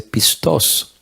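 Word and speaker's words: πιστός: fiel, y encontré que la palabra se dice pistos.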